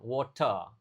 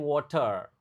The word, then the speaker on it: water: Tapi dalam bahasa Inggris itu enggak begitu diucapkan water. Jadi, you drink water. Water boleh, water juga boleh. Intinya water jangan terlalu digetarkan.